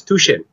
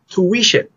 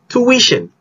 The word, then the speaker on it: tuition: pronounced as sofa sofa because this is not pronounced as tushin in english we pronounce it as tuition i repeat tuition but tuition i'm sending my kids to tuition